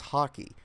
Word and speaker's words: Hawkey: his last name is Hockey. It's spelled Hawkey, but still it's pronounced like the sport that he plays.